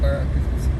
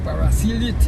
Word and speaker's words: Paraclete: to want to say paraclete. He said parasilite. Parasilite. I say, okay, he watching the map and then he said parasilite. I say, we pronounce it paraclete.